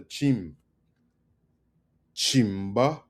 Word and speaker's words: chimba: This word is chima. You got to emphasis on the chim chima.